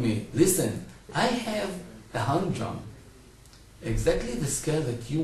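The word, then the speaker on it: Hang drum: Humdrum? Hung drum. Hung drum. How do you spell that?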